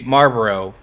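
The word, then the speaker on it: Marlborough: If you know how to Marlboro? pronounce the American cigarette company, then you know how to pronounce this. Oh, okay, Marlboro.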